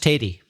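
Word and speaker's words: tatie: like brown bread t-80 I eat a tea but pronounced Teddy okay cuz tatty I've heard of his meaning potato yes in Scotland right but in Northern Ireland no we'd say Teddy Teddy but a northerner and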